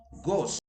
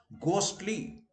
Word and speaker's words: ghost: Words where H is always silent, and they are ghost, ghostly. I visited a ghostly castle. In India, we tend to pronounce ghost, but remember, in English, there is no gha sound.